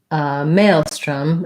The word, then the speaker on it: maelstrom: versus the american english so in british maelstrom it didn't it sounded to me kind of like a schwa there but it does have a slightly different vowel in american english maelstrom